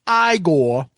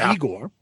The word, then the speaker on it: Igor: Igor or no, it's pronounced igore the Polish hammer.